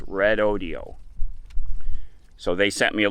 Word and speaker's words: Redodo: I was mispronouncing the company name, the Redodo. It is Red Audio. It's spelled R-E-D-O-D-O, but they say it's pronounced Red Audio. So they sent me a little video clip. Hello, Red Audio.